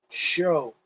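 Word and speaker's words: Shough: Then the backup, Tyler Shoe. Or Show. How do you even say his name, Lambo? Show. Show.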